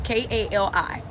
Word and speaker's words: Cali: And it's pronounced Cali, it's Kali.